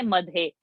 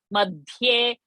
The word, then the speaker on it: मध्ये: Not to say madhe. Madhye. Ma will have a pressure. Madhye because the and here are conjunct.